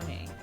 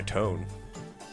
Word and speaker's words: Tone: Is it Tone or Tony? It goes by Tone.